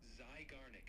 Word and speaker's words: Zeigarnik: Sure, you pronounce it like this. Zeigarnik effect.